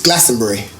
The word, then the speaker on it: Glastonbury: Okay, so it's Glastonbury. Glastonbury. Brie. Yeah. Brie. Yeah. Like cheese. Yeah. Like Glastonbury.